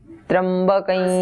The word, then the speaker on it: त्र्यंबकं: Actually तो वो मकार ही है, पर आगे यकार आ गया तो उसका ऐसे उच्चारण होगा, त्र्यंबकं यजामहे।